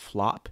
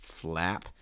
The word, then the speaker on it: flap: noun or a verb has that a sound like a cat so it's not flop it's flap flap okay um making sure